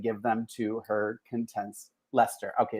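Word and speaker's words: Leicester: either kathy is from lychester am i saying that right like lycaster lister i believe it's lester yeah okay is that how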